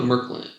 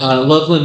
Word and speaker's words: Loveland: Let's go to Merkland. Mercantile. Loveland Mercantile. Okay. I'm misheard that. I heard Merkland. I assumed that was like the general store. You don't pronounce the D.